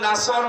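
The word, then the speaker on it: نصر: এখানে সোয়াদ আছে, নাসর মানে সাহায্য, আর নুন সিন রা নাসর মানে ঈগল পাখি। আপনি যদি মুখটা গোল করে শুদ্ধ করে উচ্চারণ না করেন, অর্থ আকাশ পাতাল পাল্টিয়ে যাবে।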